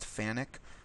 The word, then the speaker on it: FANUC: is going to be fanuc generic fanuc it's spelled like phonic they've told me it's pronounced fanuc that rhymes with panic but don't panic we're